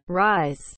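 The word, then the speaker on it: RYSE: Oke, sekarang kita lagi di kafe di salah satu hotel Reese. Reese, Rice, how do you say? Rice, R-Y-S-E.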